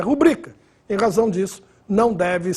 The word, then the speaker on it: rubrica: rubrica com muita frequência muita gente fala rúbrica mas oficialmente essa palavra é parox Ou seja a pronúncia oficial é rubrica em razão disso não